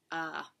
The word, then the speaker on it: Aaaaaaaah!: I saw Steve oman's ah ah is how you say it I thought when I first read it was ah or ah but it's actually like oh like you're grunting like a like an